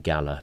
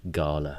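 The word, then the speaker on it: galah: I've been saying Gala, but you said Gala, and that's the way to do it.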